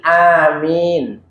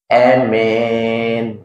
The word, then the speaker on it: amin: Dan boleh mengkosor, artinya memendekkan ya, itu memendekkan, malah kalau dalam ma'al madi bil imalah ya, dan imalah itu yang bacanya itu dimiringkan ya, amin gitu ya, ya boleh.